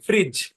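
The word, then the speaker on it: fridge: ফ্রিজ বানান কি দেখেন এফ আর আই ডি জি হ্যাঁ এখানে ডি সাইলেন্ট কারণ ডি এর পরে জি আছে এবং সেই সাথে ইও সাইলেন্ট ওই সাইলেন্ট ই এর ক্লাসগুলো তখন ক্লিয়ার হবে এখানে ডি ও সাইলেন্ট ইও সাইলেন্ট ব্যাপারটা এরকম আর কি এরকম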